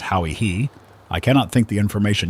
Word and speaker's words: Hawaii: This is imperfect, but as we afterward actually discovered an island called by its inhabitants Chui, or rather as they pronounce it Hawi-Hi, I cannot think the information useless, but highly fortunate, as will be remarked hereafter.